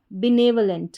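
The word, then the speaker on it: benevolent: फिर से देखिए, BEBNE ने, VO व, बी ने व, LENT लेंट, बिनेवलेंट का मतलब होता है दयालु।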